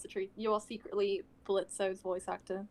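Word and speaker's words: Blitzø: not no there uh blitz don't forget o is silent the o is silent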